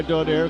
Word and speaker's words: Donaire: Pronouncing his name differently, but we go by Donaire because that's the way he pronounces it.